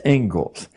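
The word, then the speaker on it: Inglis: the Ingalls Ledger looks like English but it's pronounced Ingles and I would like to read you the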